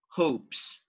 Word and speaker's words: hopes: Because letter E is not pronounced and the last sound is p, p, p, no vibration. So you say hopes.